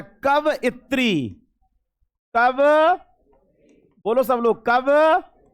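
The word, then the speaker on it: कवयित्री: Actually pronunciation कवित्री का होता है कव इत्री।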